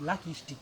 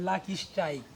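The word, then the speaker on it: Lucky Strike: এইযে তোমরা এই সিগারেটটারে তোমরা যে লাকি স্টিক কও এটা কিন্তু লাকি স্টিক না এটার নাম হইল লাকি স্ট্রাইক স্ট্রাইক আছে না এইযে স্ট্রাইক এই উচ্চারণ স্টিক নাই স্টিক যদি হইতো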